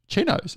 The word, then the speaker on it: Cheetos: on their wi chips is this wrong Cheetos Cheetos oh my god I've been saying it wrong